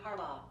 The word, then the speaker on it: Harbaugh: Harborough? I don't know how to pronounce Alexa, it. who's the head coach of the Baltimore Ravens? Baltimore Ravens coach is John Harbaugh.